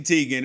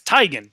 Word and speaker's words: Teigen: Something that we liked on social media was Chrissy Teigen, who is by far the best follow on